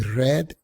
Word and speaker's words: read: el que leí antes recuérdate que el pasado del verbo leer aunque se escribe igual se pronuncia como el color red de One I red before continuamos entonces con